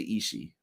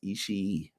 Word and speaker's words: Ishii: me on this because I used to say Ishii all the time, but we believe it is pronounced Ishii. So much love to Ishii.